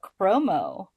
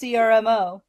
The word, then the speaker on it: CRMO: that I've heard people call it chromo. Over here on the East Coast, it's just CRM O. Oh, interesting. Yeah. A lot of times when I say Chromo and then like I've had friends spell it C R O M O because that's like promo.